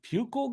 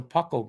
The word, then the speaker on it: Puckle: A pukal gun? I never heard. I'm saying it wrong, but to me it looks like. Oh, I saw it wrong. No, it's a puckle gun.